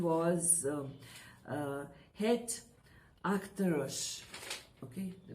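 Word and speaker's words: Het Achterhuis: or, as I had given to you, the pronunciation was Het Achterus, okay, the pronunciation.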